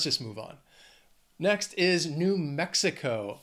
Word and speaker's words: New Mexico: Next is New Mexico. Four syllables. Again, the stress is on that first syllable of the second word. New Mexico. Mexico. New Mexico.